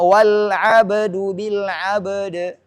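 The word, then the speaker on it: وَالْعَبْدُ بِالْعَبْدِ: Maka guru mencontohkan, kalau muridnya nggak tahu, bacanya wal abdu bil abd. Wakafnya dengan sama-sama qalqalah, ba qalqalah dan juga qalqalah. Jadi tidak ada qalqalah yang hilang.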